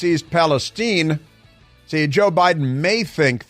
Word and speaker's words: East Palestine: they need you to pronounce the name of the town properly it's East Palestine see Joe Biden may